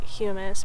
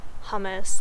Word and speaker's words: humus: soil called the humus it's spelled like hummus but I'm going to say humus because it is not hummus like the food and so the humus